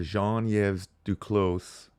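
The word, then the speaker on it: Jean-Yves Duclos: we've got Rebel news reporting Public Service Minister Jean yv Duclos that's how you say it says the new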